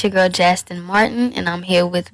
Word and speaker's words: Jastin: Because I'm like, how do you pronounce it? Tina? Jastin.